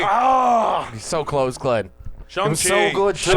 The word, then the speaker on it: Shang-Chi: Because we have Shang-Chi 2 Fuck. coming up next. Shang-Chi! Ah! He's so close, Glenn. Shang-Chi!